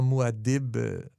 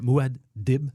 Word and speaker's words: Muad'Dib: On l'ira l'écouter comment il le prononce, Muad'Dib. J'aimerais ça. Je pense qu'il fait comme Muad'Dib. Oui, il fait juste un arrêt. Il sépare.